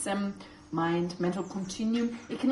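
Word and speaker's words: སེམས: Okay, I added sem, pronounced sem, mind, mental continuum.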